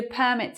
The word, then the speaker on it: permit: Permit, in this sense, you need a permit to park here, saying in England you need